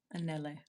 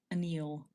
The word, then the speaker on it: Anele: So, my last name is pronounced Anelle. Anelle. It's like an anle. You can just say anle. Anle is like close enough. A lot of people say like Anel or Anneil.